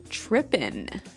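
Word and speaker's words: trippin': So, they started talking about girls and he mentioned that this girl started tripping. Tripping. Tripping. So, to trip, right? As you notice, it's tripping. It doesn't have the G at the end, which isn't really grammatically correct, but that's kind of the way it's pronounced.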